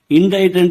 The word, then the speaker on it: indict: సరైన ఉచ్చారణ " ఇండైట్". ఇక్కడ, మనం C ని ఉచ్చరించము; C అనేది ఉచ్ఛరిత అక్షరం. అది ' ఇండైట్' (indite), 'ఇండిక్ట్' (indict) కాదు.